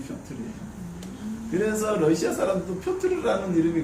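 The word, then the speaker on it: Пётр: 피터 러시아식 발음이 표트르예요.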